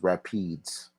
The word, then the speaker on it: Rapides: second one Rapides man no it's pronounced Rapides you never heard of the Rapides River I heard of the Rapids River not the Rapides Ripper it's repeats Rapides I'm saying that because